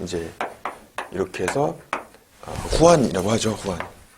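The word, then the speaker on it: Juan: 후안. 왜냐면 스페인 쪽에서는 G 발음을 우리 프랑스어의 R 발음처럼 하잖아요. 그래서 후안이 되는 거죠.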